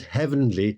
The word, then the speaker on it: heavenly: And note here that heavenly is pronounced with two syllables.